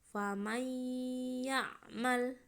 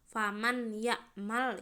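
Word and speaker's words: فمن يعمل: Famay ya'mal. Nah, enggak boleh dibaca secara jelas faman ya'mal, itu tidak boleh ya. Harus dibaca secara dimasukkan dengan dengung.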